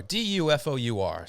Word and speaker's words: Dufour: It's spelled Dufour, Dufour. So Willem Dafoe.